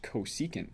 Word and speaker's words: cosecant: functions the first one written CSC theta is pronounced cosecant theta and it's the reciprocal